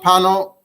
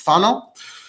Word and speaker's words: Fano: The world knows Ramami Pano, which is really in Italy it's pronounced Fano. So he comes up in here a little bit. I'm gonna pronounce it Fano because that's how it's pronounced.